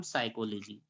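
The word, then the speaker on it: psychology: एस आ रहा है तो यहां पर प क्या हो जाएगा साइलेंट हो जाएगा तो इसे पी एस वाय सी एच ओ एल ओ जीी को पढ़ेंगे हम साइकोलॉजी क्या पढ़ेंगे साइकोलॉजी पढ़ेंगे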